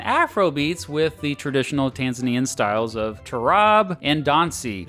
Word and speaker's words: Tanzania: Apparently, the locals pronounce Tanzania, and Americans like me mispronounce it all the time.